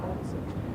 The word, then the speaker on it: Ueltzen: It's UELTZEN. It's pronounced Olson.